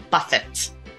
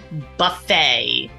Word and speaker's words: buffet: It is not valet. That T is silent.